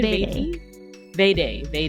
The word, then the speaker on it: Vade: Am I pronouncing that right? Vade, yeah.